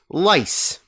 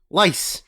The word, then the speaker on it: Lay's: It is the Margarita, which is the South American version of Lay's, which they pronounce lice. What? Yeah, lice is how it's pronounced.